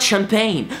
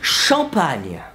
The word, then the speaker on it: champagne: because it's Duchamp Anya no not champagne shop Anya and why do I